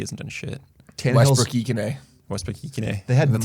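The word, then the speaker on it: Westbrook-Ikhine: Westbrook Ikene.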